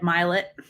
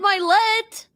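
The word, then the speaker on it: Mylett: Dr Daniel aan um Ed melet no not Ed myet it's like the greatest hits of personal development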